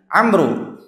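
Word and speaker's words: عمرو: Kalau ada huruf alif belakangnya, membacanya Umar. Kalau enggak ada alifnya, dibacanya Amru.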